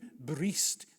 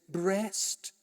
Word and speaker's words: breast: Charles, I know it has to read bree before it rhymes, but an Englishman says breast dowi.